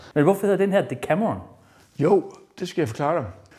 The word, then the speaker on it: Decameron: Og det er Decameron, det er med C, ikke? Og ligesom i corona. Og det er udtalt som K. Så den endte med at komme til at hedde Decameron.